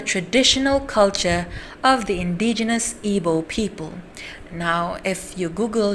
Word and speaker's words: Igbo: culture of the indigenous Igbo people. Now, if you Google it, Igbo is spelled as IGBO, but the G is silent, so it is pronounced as Igbo.